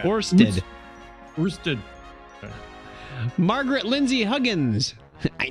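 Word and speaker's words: Ørsted: Is that a null symbol? It's got the O with the slash through it? Orsted. How do you say that? Orsted.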